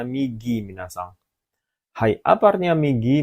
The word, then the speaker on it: 右: Nomor 2 ya, bacanya migi minasang.